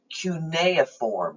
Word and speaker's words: cuneiform: ancient egypt that's really considered a picture language cuneiform that's how that word is pronounced which means wedge-shaped is actually a written